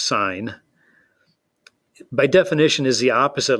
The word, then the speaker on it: sine: sine of angle a s i n that's pronounced sine by definition is the